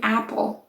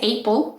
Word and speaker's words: apple: bad lab etc right or even apple right you don't say april because the fact that there's an ah right there doesn't mean that you pronounce it as an a or as an a